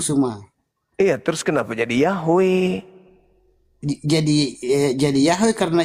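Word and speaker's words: Yahweh: Ada yang bilang, ada yang bilang Yehova Yehua. Yahua. itu Bang Suma hancur sudah ini Bang Suma Bang Suma itu itu bukan pengucapan yang ee kurang tepat yang paling tepat pengucapannya itu Yahwe.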